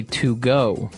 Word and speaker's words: Togo: Because if you look at it, I would say to go, right? But it's not to go, it's togo.